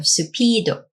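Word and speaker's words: スピード: Next to that is you have Supido, which is the Japanese pronunciation for speed washing.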